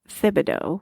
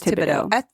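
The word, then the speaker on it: Thibodeau: I believe you don't pronounce it. Thibido. No, it is it is Tibido.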